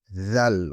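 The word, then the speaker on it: ذال: Zal, on prend la langue, on met sur les dents on dit zal.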